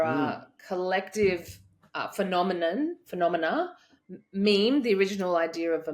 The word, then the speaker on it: meme: the word meme from she coined that because it sounds like the word Gene but it's Meme and that uh you